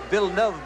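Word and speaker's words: Villeneuve: the number 76 car it's pronounced VV by the way but for our American audience of course we are all accustomed to villain there he is the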